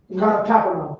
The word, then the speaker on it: Capernaum: How do you pronounce that word? Capernaum.